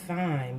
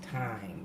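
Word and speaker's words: thyme: like this flavor time some people pronounce it fine but it's really pronounced time okay time can you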